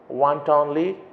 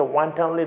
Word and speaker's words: wantonly: here the meaning of want only okay one timely that is how you have to pronounce that word for no good reason